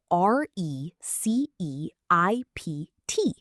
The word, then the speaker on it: receipt: The spelling is tricky with a silent P. Yes. It is spelled r e c e i p t, but pronounced receipt.